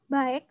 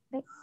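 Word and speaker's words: 백: Jadi 100 bukan dibaca baik, tetapi bacanya adalah bek.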